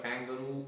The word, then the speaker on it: kangaroo: the stress was in the first word kangaroo on the last syllable and in lieutenant on the second syllable.